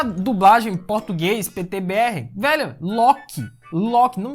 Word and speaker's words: Loki: ver mais pra frente, ao invés dos caras falarem Loki, que é a pronúncia em português, mas não, eles falavam Luke, que é a pronúncia em inglês.